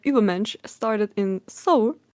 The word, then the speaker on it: Übermensch: I literally can't pronounce that one with an English accent. Übermensch. Or how would you say that one? Come on, it's a German word and we speak German. Yes. So Übermensch it is.